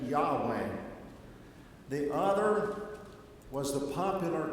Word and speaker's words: Yahweh: was the true God we call him Jehovah they pronounced it Yahweh the other was the